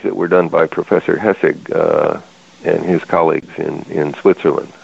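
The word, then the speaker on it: Hässig: were done by Professor Hessig and his colleagues in Switzerland. Okay, so Hessig is spelled H-A-S-S-I-G with an umlaut over the A.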